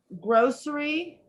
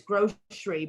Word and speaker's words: grocery: you two things um grocery and the other way we say it is grocery but it is a long o sound so it's grow tree or gross tree and grocery or grocery